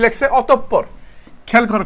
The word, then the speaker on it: অতঃপর: এখানে চন্দ্র বিসর্গ আছে না, যদি দেখো বিসর্গ আছে এরপরে যেই বর্ণটা থাকবে সেটা দ্বিতীয় উচ্চারণ হবে, সেটা কি হবে? দুইবার, কয়বার? দুইবার উচ্চারিত হবে, দুইবার উচ্চারিত হবে, ঠিক আছে?